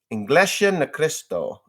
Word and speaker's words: Iglesia ni Cristo: Iglesia ni Cristo is how you say that.